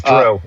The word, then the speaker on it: Drew: Um or how do you say your name? Drew. Well, is it Drew? D Ru? I mean, so yes, it's Drew.